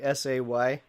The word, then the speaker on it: Seesemann: people Sesemann, but yeah, it's pronounced Sesemann. So phonetically, Sayzman.